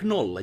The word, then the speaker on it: nolla: But like always when you pronounce like nolla, you say it like nolla.